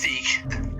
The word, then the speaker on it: Zeke: We got Brooke and we got Zeke. Or is it Zek? How do you say it? Zeke? It's Zeke.